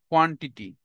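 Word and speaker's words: quantity: For example, question, question, কোয়ালিটি, quickly, queen, কোয়ান্টিটি, কোয়ান্টিটি না ক না খ, কোয়ান্টিটি, কুইকলি না খ, কুইকলি, কোয়ালিটি না খ, কোয়ালিটি, কোশ্চেন না খ, কোশ্চেন।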